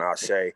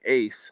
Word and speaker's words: Ashe: You know, like when I was getting interviewed and they said it wrong, and they're saying Ace. Now I'm telling them, no, it means Ashe. You pronounce it Ashe, and this is what it means.